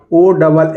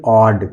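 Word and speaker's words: odd: पढ़ेंगे क्या पढ़ेंगे ऑब्जेक्ट ओ डबल एफ इसको ऑफ नहीं पढ़ेंगे इसको ऑफ पढ़ेंगे क्या पढ़ेंगे ऑफ ओ डबल डी इसको ओड नहीं पढ़ेंगे इसको हम पढ़ेंगे ऑड क्या पढ़ेंगे ऑड इसी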